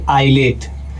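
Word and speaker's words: islet: यानी कि दोस्तों जो एस है आई और एल के बीच में आ गया है दोस्तों। तो यहां पर एस क्या हो जाएगा दोस्तों? साइलेंट। तो इसको पढ़ते वक्त पढ़ेंगे दोस्तों आईलेट।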